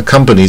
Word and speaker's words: company: 重点在这个 at companion，那 company 重点在这啊 company，不卷